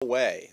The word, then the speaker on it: Huawei: Huawei. That's how it's pronounced, even though in English it doesn't seem to make sense.